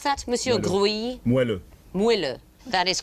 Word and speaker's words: moelleux: Can you pronounce that, Monsieur Gruy? Moelleux.